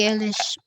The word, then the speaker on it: Eilish: I will just say it like Billie Ish. Billie Ish is Mm-hmm. how you spell it. And then they were watching a video. Billie Eilish.